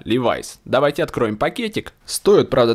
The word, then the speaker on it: Levi's: А как правильно говорить, Левис или Ливайс? А вот если вы не знаете, давайте спросим у Сири. Сири, как правильно говорить? Levi's right to speak. В следующий раз говорите правильно, Levi's.